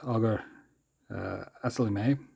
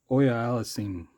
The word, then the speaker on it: Auger-Aliassime: The current Canadian hopeful at Wimbledon this year, Félix Auger-Aliassime. I'm going to get that name wrong. I think it's Auger-Aliassime. Sorry, Auger-Aliassime.